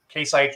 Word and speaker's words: Case IH: let's talk about case I said it wrong k-site New Holland uh type your questions into the